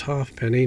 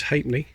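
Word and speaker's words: ha'penny: another hate me remember it was never pronounced half penny no one ever said that it's always hate me 1935 so that would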